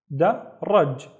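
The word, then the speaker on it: درج: The first syllable is da, and then raj. Da, raj. Daraj, and daraj is a staircase.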